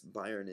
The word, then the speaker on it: Bayern: in the state called Bayern or it's Bayern in German it's Bavaria is what